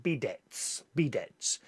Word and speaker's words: bidet: John says bidets are a French invention, so they don't pronounce the T. Bidets.